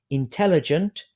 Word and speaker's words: intelligent: So, for example, if you have the word intelligent, you can divide that into 4 syllables. Intelligent. Which syllable is stressed? Intelligent. So you can make a mark above tell, a circle or a